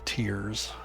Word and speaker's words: Tyr: Uh if you're like savage and want to know how to pronounce it, it's just tear forged like tears. Tear forged. But uh tier is a a German and Norse god.